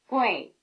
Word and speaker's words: gui: Fei, Wei, Gui. Here, you'd expect G-U-E-I, since the A sound is spelled E-I, but in fact there is no E.